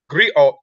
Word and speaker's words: griot: or jelly professions encompass many roles the Greeks pronounced griot have been referred to as historians and storytellers